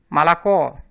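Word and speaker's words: молоко: Mas se ela estiver em uma sílaba átona, então ela será pronunciada como se fosse um A. Exemplo, Malacó. As 3 sílabas têm a letra O, mas na sílaba tônica ela é pronunciada com o som de O mesmo.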